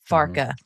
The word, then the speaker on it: Farke: Farke.